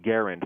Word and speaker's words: Garand: And he said, well, when I went to his house, he said it Garand.